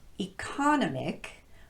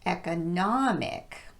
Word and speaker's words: economic: two words I mentioned this word is not economic but economic and this word is not specific but specific